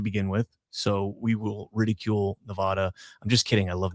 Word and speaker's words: Nevada: It's Nevada. Las Vegas or Las Vegas? It's 'Cause Nevada. It's a Spanish word, and there is no sound in Spanish.